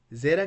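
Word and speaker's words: ζῆτα: Zeta can be pronounced like Z in zero or like D in ads.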